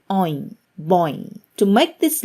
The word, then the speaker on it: ঐ: of A, which is Oin. Oin. Oin makes me think about the word boy in English. However, Oin in Bangla has a bit of a curve when ending with E. Oin, boy.